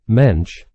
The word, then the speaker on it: Moench: just so you know it's pronounced mench and rhymes with wench it's interesting to note that Mensch was given these jobs